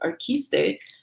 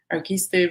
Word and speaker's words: Arquiste: Is Arquiste? I don't know what it means, but I know that's how it's pronounced. Arquiste Venice Rococo.